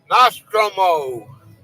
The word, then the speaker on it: Nostromo: Nostromo.